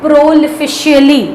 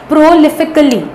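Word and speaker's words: prolifically: All organisms reproduce प्रोलिफिकली, इट इज नॉट प्रोलिफिशियली, कुछ कुछ pronounce करते हैं students, it इज not that, प्रोलिफिकली means प्रोलिफिक।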